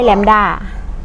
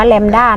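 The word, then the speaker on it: แลมบ์ดา: วินาที ตัว สุด ท้าย แหลม ด้า อ่าน ว่า แลมด้า นะ แหลม ด้า แลมด้า คือ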